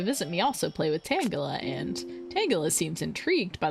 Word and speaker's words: Tangela: T I'm So, I'm going to say I know it's Tangala. It's Tangula because it's Tangled, but as a child, I pronounced it Tangela, and it's really hard not to.